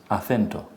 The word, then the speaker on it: acento: You say in Spanish, you say a, th, e, t. More or less this, acento, no? So, you have an e, you see that? Yeah. And the stress is on the e, no? Acento. Yeah. Acento. Because it's the penultimate syllable.